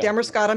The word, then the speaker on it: Damariscotta: It's just outside, how do you say, is it Damariscotta? Yeah. Damariscotta, Maine.